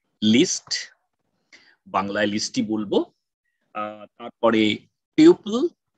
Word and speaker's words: tuple: একটা হচ্ছে list list বাংলায় লিস্টটি বলব তারপরে টিউপল টি ইউ পি ইউ এলই কেউ কেউকে টাপল বলে আমি বাংলাতে আমি টিউপল বলি যাতে বানানটা